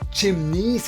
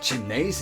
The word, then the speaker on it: chimneys: your two cents first it's pronounced chimneys and curtains not chinese and curtains second when you say